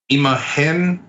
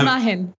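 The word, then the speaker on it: imagen: BR said too uh imahen Awards uh imahen it's it's just it's super easy like you're overthinking imahen that's it imah I'm so bad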